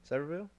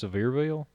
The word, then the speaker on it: Sevierville: silverville silverville where cedarville one more time saverville is that how you say it i think it's sevierville it probably is i've